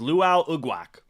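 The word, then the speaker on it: Lwal Uguak: Yeah, 75, again, just to clarify, is Luau Ugwak. That is spelled L-W-A-L, first name. Last name, U-G-U-A-K. Yeah, Luau Ugwak.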